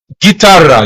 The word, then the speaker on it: guitarra: So it's like you're ignoring the letter U because it does not have the umlaut above. Guitarra, you're actually pronouncing it as if it's Gitarra. Guitarra. In bracket, it says, or parentheses, is that what you call it? The U is silent and it keeps the hard G.